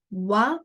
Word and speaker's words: は: in the second sentence so the particle is read what pronunciation is what but when you type